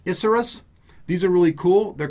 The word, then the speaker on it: Isurus: the inner ear headphones I think they pronounce these issaurus These are really cool